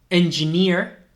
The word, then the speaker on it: engineer: directamente a la Ryder engineer engineer veis que esa doble tampoco se pronuncia como una doble e no es una e más larga ni nada de eso es como una ia engineer con Peter veis